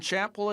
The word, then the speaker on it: Chappell: with students students there, students there, being students there, being split between between Chappell between Chappell PRONOUNCE LIKE LIKE CHAPEL LIKE CHAPEL and LIKE CHAPEL and Lincoln.